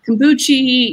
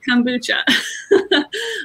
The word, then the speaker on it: kombucha: do um you know people still sometimes don't know how to pronounce kombucha they say you know kombuchi you know kobacha you know all these different things and i'm like no it's kombucha um or boots for